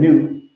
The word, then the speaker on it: Nut: So all the 9 of the 9 different gods, they are, yeah, I said nut, but it's Nut, yes.